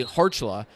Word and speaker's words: Kharchla: to center and yeah you heard me say hercula and that's because that's actually how the name's pronounced that's